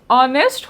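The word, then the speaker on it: honest: होय the answer is एन शी इज़ एन ऑनेस्ट women कारण क्यों इटा म पोिसु इटा मोहिसु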